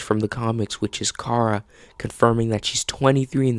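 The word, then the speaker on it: Kara: We then get confirmation that her name will be pronounced Cara instead of Carara.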